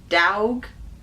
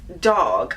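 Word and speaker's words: Dawg: nickname I should say, is spelled D-A-W-G. And I was like, Dowg? What the heck is that? But it's dog, apparently. So it's a weird name to spell it. I mean, why not just D-O-G? But that is apparently the way it's pronounced. Dowg. It becomes dog.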